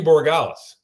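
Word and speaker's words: Borregales: know, the the the special teams here, Andy Borales, and I'm not even sure I'm pronouncing his last name right here.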